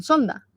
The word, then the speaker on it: Zonda: Bueno le dicen claro es viento Zonda con z pero aquí lo pronuncian Sonda y si no nos